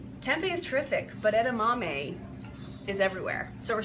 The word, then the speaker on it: edamame: So this is, edamame, that's how it's spelled, E-D-A-M-A-M-E.